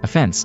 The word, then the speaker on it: offense: meant the same thing we stressed the last syllable when referring to breaking a rule whereas we stress the first syllable when we speak about the opposite of Defense the fact that the